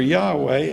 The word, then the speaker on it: Yahweh: appraise and press you but the evidence for Yahweh as the correct pronunciation for the sacred name is at least